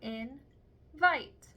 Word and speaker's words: invite: However, the very last vowel is a silent E that does not have a sound. That silent E is making the vowel in the second syllable say its name, vite.